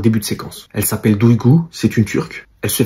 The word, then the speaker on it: Duygu: Au lieu de bien prononcer son prénom Duygu, elle dit Dogyu.